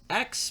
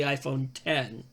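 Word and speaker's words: iPhone X: Now, I've heard it pronounced X, but I think it's also the iPhone 10.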